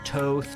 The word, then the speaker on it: Thoth: So first things first, we've got Thoth, right? So Thoth, Thoth, Toth, Toth, I've heard it all. It's up to you how you want to pronounce it.